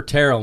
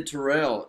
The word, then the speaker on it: Terrell: Well, T is for Terrell, man. Y'all remember that. I'm saying it right. A lot of people say Terrell, you know, and that's why I start.